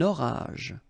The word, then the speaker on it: orage: Un orage. Same thing here. J. Okay, not the E.